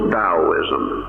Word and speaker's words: Taoism: which we know as Daoism pronounced as though it was spelled with a d but actually spelled with a t so it a spelled